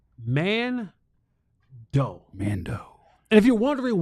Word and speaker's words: Mando: It's pronounced Mando.